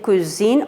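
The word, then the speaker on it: cousines: And féminin pluriel cousine, encore on ne prononce pas S avec ça.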